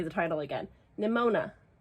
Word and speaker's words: Nimona: touched, which is a graphic novel, which is Pneumonia. I can never say it right. We've got to stop me. We truly just need me to read this so that I can never say the title again. Nimona.